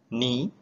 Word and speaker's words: knee: out the similarity that we are not pronouncing the letter K so we are not